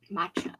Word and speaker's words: matcha: Matcha.